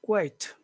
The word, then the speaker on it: quite: very and how do you say it a quite and what does number two mean yeah means scum okay and how do you pronounce it it's quiet quiet Muhammad what what